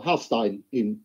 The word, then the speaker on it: Hallstein: And that guy is a guy called Hallstein, or Hallstein, if you pronounce it properly.